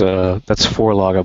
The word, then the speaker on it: Vorlage: That's Forlaga, by the way. I was having trouble understanding what you were saying. Thank you very much. Das ist ein Vorlage.